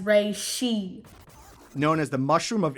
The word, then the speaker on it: reishi: Dad, the mushroom of immortality is pronounced reishi.